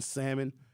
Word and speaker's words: salmon: The L is also silent in salmon.